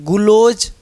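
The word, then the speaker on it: gulose: और यहाँ पे से देखिए ग्लूकोज, दिखा GLU से ग्लूकोज, M से समझ गए हैं मैनोज, GU से गुलोज, ग्लूकोज नहीं गुलोज, NDO से इंडोज, देखिए प्रोनाउंसिएशन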